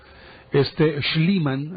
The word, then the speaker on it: Schliemann: Schliemann, así se pronuncia.